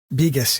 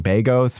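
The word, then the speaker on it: Begos: Beus. Yes. Beus. Okay. I've been saying Beos for so long. So Beus.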